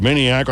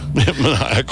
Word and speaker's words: maniacal: And I said maniacal. I said maniacal. Dimwit. Maniacal. You put the emphasis on the wrong syllable.